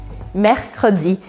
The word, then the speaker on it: mercredi: Mercredi. Então lembre que como tem dois R's muito próximos com um C no meio, a minha dica é que você separe as sílabas para treinar.